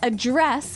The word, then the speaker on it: address: So the verb address has the stress on the second syllable.